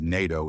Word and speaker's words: NATO: and an is used a NATO representative NATO is pronounced as a word n AI t o starting with a consonant sound so a is used